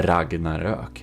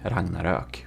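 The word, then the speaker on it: Ragnarök: he is Swedish and um it's called the Ragnarok. Ragnarok. Okay, if you want some pronunciation, there you know.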